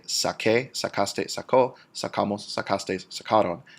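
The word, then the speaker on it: saqué: the same reason that we do not want the soft c sound to make it sound like sase, we want it to say sake, sacaste, sacó, sacamos, sacastes, sacaron.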